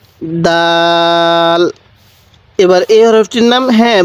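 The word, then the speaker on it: دال: কিভাবে লেখা হয়েছে এরপরে দাল দালটা এরকম ভাবে লেখা হয়েছে আর দালটা উচ্চারণের সময় শক্ত করে উচ্চারণ করব দাল এরপরে দালটা নরম করে উচ্চারণ করব তাহলে দাল এরপরে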